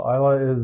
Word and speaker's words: Islay: So Islay is the... Well, it's spelled Islay. Apparently it's pronounced Islay. I don't know.